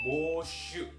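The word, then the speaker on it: 募集: Bacanya adalah boshu.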